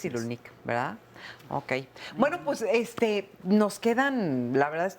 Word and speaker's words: Cyrulnik: estoy tratando de aprender cómo se dice el apellido es boris cyrulnik boris cyrulnik bueno pues este nos